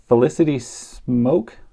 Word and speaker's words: Smoak: But this is Felicity Smoak, I think. That's how you pronounce it.